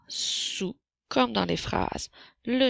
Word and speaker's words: sous: Donc, le son s s'écrit avec la lettre S et le son ou s'écrit O-U-S puisque le dernier S est une lettre muette. Alors, sous, comme dans les phrases,